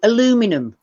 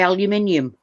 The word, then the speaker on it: aluminium: it's the cute like americans say aluminum and we say aluminium yeah i i say aluminium as well uh aluminium and they the beauty